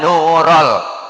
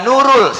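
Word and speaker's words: نورَ: Marhaban Ya Marhaban Ya nurol bukan Ya Nurul salah Ya Nurul Aini Marhaban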